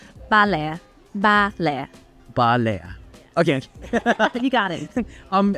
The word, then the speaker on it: Ba Le: Anytime I mention like buni to my friends are like, "Oh, did you go to bal?" How do you pronounce it actually? Uh it's actually bala.